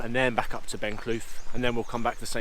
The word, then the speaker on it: Ben Cleuch: So today's walk is up Ben Clough. I think that's how you pronounce it, Ben Clough or Cleuch anyway.